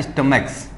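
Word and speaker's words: stomach: Last में कै की ध्वनि आ रही है तो आपको एस ऐड करना है। लास्ट में चै की ध्वनि आ रही थी, देखो आ तो सी एच ही रहा है यहां पर भी और यहां पर भी और यहां पर भी, लेकिन यहां पे चै की ध्वनि है, यहां पर कै और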